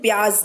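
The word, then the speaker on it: प्याज़: डालते हैं वही वाला प्याज, ठीक है, उसको एक्चुअली में प्याज बोलते हैं, ज के नीचे नुक्ता होता है।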